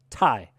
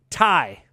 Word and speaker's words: Ti: the periodic element titanium tie nobody ever did that it is short for titanium and nobody shortens titanium to tie ti also just sounds